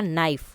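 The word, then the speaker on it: knife: डब्लू अ then night night में क्या होता है जी और एच का साउंड नहीं आता है तो नाइट में जी एच हो जाएगा नाइफ इसमें के की साउंड नहीं आती है तो वो साइलेंट है व्हाट इज द करेक्ट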